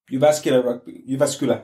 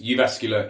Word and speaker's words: Jyväskylä: in the show notes because Jyväskylä is spelt differently to how it sounds.